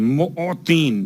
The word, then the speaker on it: معطین: یا خیر المعطین، معطین میم عین توئیں یہ نون معطین موتی. اب چونکہ اگر تلفظ میں غلطی ہو جائے تو بات کہیں اور پہنچ جاتی ہے. ایک دینا ہے اور ایک عطا کرنا ہے. یا عین اور توئیں کے ساتھ ہے، حمزہ اور تے کے ساتھ نہیں ہے.